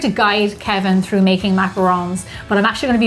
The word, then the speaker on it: macaron: actually said macarons and you said macaroon. Macaron. And so I want to make sure that we're doing it right. So I brought a little bit of a help here with the American pronunciation of what this should be. So let's see if this works. Macaron. There you go, macaron.